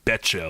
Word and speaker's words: Betcha: And then Goldberg, in his final victory in the dark matches, took on a guy named John Betcha, like you bet your ass. So it's spelled just the same way.